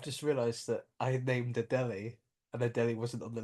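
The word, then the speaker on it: Adélie: Adelis penguin, is that not right? the Adelie penguin?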